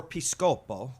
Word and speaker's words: Piscopo: Or Piscopo, which yeah. is the proper Italian pronunciation.